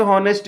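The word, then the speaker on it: honest: 14 number दोस्तों कहता है कि Mukesh is a dash हॉनेस्ट मैन। हॉनेस्ट मैन पूछा है तो हिंदी का उच्चारण इसका ओ से आता है, क्योंकि एच साइलेंट होता है, ओ से शुरुआत होता है।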